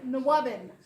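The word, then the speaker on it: NWOBHM: How you pronounce this is Nwabin. Nwabin is the shorthand or the acronym for the new wave of British heavy metal.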